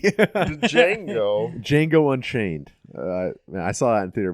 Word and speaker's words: Django: I read that really quick and pronounced the D. Django.